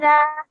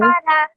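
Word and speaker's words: بقرة: Just remember the raw sound here at the end you made a bit long, and we have to make sure. Baqara. Very good. Very good. That was excellent. You made sure that the ba, the qaf, and the ra sound were all equally long, which is only 1 second.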